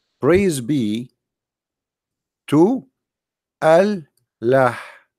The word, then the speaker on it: Allah: says praise be to Allah now Allah it became one word through - through time because it's pronounced together al LA but in fact it is two words look what happened here